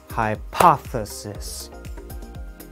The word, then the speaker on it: hypothesis: know about the word hypothesis English speakers put stress on the second part of the word we do not stress